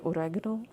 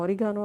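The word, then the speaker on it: oregano: और लास्ट जो चीज़ ये मैं ऐड करन लगी हाँ वो वे ओरैगनो। वैसे असी कॉमन जुबान है साढ़े जड़े असी हैं असी इन्हूं ओरिगानो आखीदा है, लेकिन असल प्रोनाउंसिएशन जी ओरैगनो है।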